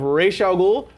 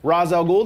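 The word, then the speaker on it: Ra's al Ghul: have Deathstroke we have Ral goul Rosel ghoul depending on who's pronouncing the name and we also have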